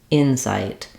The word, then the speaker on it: insight: we have first syllable stress the in is longer and the sight is shorter Insight in inight the verb